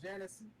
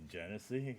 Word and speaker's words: Genesee: Got some Genesis. Sorry. And I was some gonna IPA. say you went to Genesee. You went the cheap way, huh? Yeah, my bad. I said it wrong.